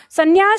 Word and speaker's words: संन्यास: दोनों होते हैं उच्चारण में संन्यास, हमें ये याद रखना है, कोई एक नहीं होता, ठीक है।